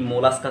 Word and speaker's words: Molluscs: तो सबसे पहले हमको जानना चाहिए कि मोलास्का का मीनिंग क्या है. तो बच्चों ये एक यहाँ पर मैं एक वर्ड लिख रहा हूँ MOLLUSCS. इसका प्रोनाउंसिएशन कैसे रहता है? मोलास्क. And this word is derive